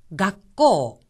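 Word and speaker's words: がっこう: 각고 각고 학교란 뜻인데 작은 쓰가 마치 기억처럼 들리죠 하지만 한 가지 주의하셔야 될 점은 발음할 때 각 하고 나서 잠시 숨을 멈추었다가 코라고 하는 겁니다 각고 각고 또한 여기서 코 부분은 코라고 하는 오 모음 뒤에 우가 이어졌으니 코하고 길게 발음을 합니다 니뽕 니뽕 이것은 번이란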